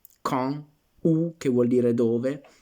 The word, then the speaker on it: quand: Quindi quand est-ce que, ecco, vedete questa legatura di quand, la D ci diventa pronunciata come una T davanti al vocale, per legare, però vabbè, una piccola puntualizzazione fonetica.